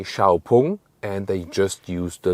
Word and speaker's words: XPeng: that the lettering of x-pang the outside and so on and the name like the pronunciation x-pang is just used internationally inside China and I say xiaopung and they just use